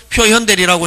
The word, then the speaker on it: 표현대리: 옛날에는 표견대리라고 읽었습니다. 근데 지금은 표현대리라고 읽는데 상대방 입장에서는 보면 요 대리인이 권한인처럼 보여지고 권한이처럼 나타나고 나타나는 데 대한 표상 근거 책임은 누구한테 있다?